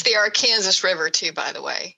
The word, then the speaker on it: Arkansas: I will forever in my mind see C-O-K-E, even though it's spelled K-O-C. Right. And it's the Arkansas River, too, by the way.